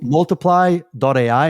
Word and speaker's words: multiplai: Yeah, if you go to multiply.ai, and multiply is spelled multiplai. I thought that was really cute when I came up with the URL, and now I have to spell it every single time. But think about multiply instead of a Y, put an AI in the end.